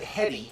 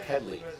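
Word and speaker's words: Headey: it and he's right had he said hedy and even would have been okay but head league we'll throw this off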